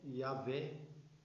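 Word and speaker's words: Yahweh: o senhor estaria aqui a pronúncia correta se é yavé como nós conhecemos hoje tem até os testemunhos de Jeová né mas não é jeová então o o senhor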